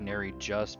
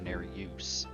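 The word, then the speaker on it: Nerijus: AAL Lake North I know it looks like ner just but I um I can't remember where I read it but it's like it's actually pronounced ner use like a you put the U in there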